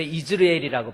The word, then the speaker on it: 이스르엘: 하나님과 겨루어 이겼다는 뜻입니다 이스르엘 원래 이즈르엘이라고 발음을 합니다 히브리어를 보면 원어 성경에